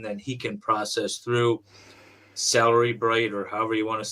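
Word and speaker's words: Cellebrite: Celery Bright is how you say it.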